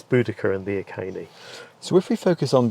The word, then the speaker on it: Iceni: But you said it there, so it's Iceni, not Iceni, is it? Yeah, that's right. It always used to be Boudica and the Yes. Iceni, but the correct pronunciation, according to the people who study ancient Celtic languages, is Boudica and the Iceni.